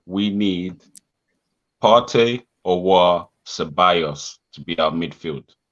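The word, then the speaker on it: Aouar: Awar.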